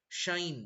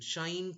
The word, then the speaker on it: sinh: You have to write shine. That's why they prefer the proper pronunciation, shine, cosh, tanh.